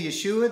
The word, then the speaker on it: Yeshua: Amen brothers and sisters sometimes you may hear me say Yeshua that is how you say Jesus in Hebrew.